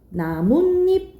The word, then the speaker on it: 나뭇잎: 그리고 우리 나무 플러스 입 이건 발음이 나뭇잎 이렇게 발음이 나요.